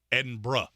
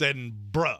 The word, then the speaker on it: Edinburgh: Edinburgh. It's Edinburgh. There is no borough. There is no burg. There is no none of that. It's Edinburgh.